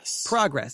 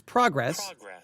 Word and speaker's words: progress: If it's used as a verb, progress. So progress. It's all same word, but it's pronounced differently. Progress or progress, depending if it's using as a noun or a verb.